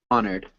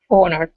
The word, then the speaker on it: honored: w okay reacted reacted honored honor honored yeah so we don't really pronounce the h there uh recuperate recuperation good